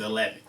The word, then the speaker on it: Hellheaven: it's spelled it's called eleven projections that's my new uh production company but it's spelled h-e-l-l-h-e-a-v-e-n so as hell heaven but i pronounce it eleven uh i was born